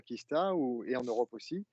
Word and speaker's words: Qista: un mot assez court cinq lettres qui peut-être prononcé en anglais même en provenance de l'Asie on arrive à dire Kista ou et en Europe